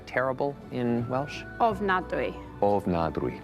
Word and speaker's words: ofnadwy: Ofnadwy.